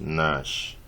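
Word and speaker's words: gnash: letters on the line the word is Nash the G is silent in the Nash so it's actually like an eight Sh so the options are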